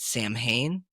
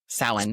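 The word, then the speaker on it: Samhain: traditions and pagan traditions and uh is it Sam Hayne or is that sin it's pronounced it's pronounced okay but it's spelled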